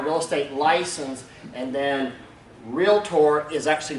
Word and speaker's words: Realtor: be a a licensed realtor or member of of some other trade group one of the reasons that Realtor and it's technically pronounced realtor everybody say realtor realtor okay Realtors hate realtor